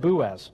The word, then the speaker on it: Boaz: at blue go Wes I'm gonna said boo as that's the Canadian pronunciation boo as Boaz serves